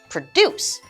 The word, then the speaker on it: produce: so let's change the emphasis to the second half of the word produce with dece going upwards and that is our verb that means to create